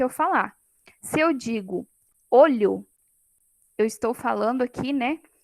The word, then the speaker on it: olho: Então, se eu pronuncio com o fonema o fechado, é olho, é um substantivo. Se eu pronuncio com o fonema o aberto, olho, aí já é outra palavra, seria aí o verbo olhar.